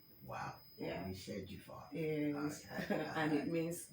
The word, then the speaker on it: Orishejufa: So tell us, you pronounce that your surname again. okay. The surname is Orishejufa. Wow. Yeah. We shared you far.